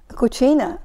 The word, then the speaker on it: cucina: now how do you say the word kitchen Cucina Katrina means sub kitchen cooking and cuisine okay